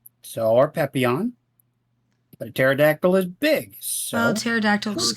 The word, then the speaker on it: pterodactyl: if you do the silent P like with pterodactyl, Pterodon sounds like a good fantasy creature name.